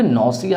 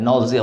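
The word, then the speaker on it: nausea: अब यहाँ पे जो नौसिया है, इस नौसिया को बहुत तरीके से प्रोनाउंस किया जाता है। नौजिया बोला जाता है, नौसा बोला जाता है, नौजा बोला जाता है। तो आप नौसिया अगर प्रोनाउंस करते हैं तो कोई बात नहीं।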